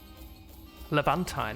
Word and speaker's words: Levantine: be for remainder of the letine levantine I may have been mispronouncing it as letine uh I'll try and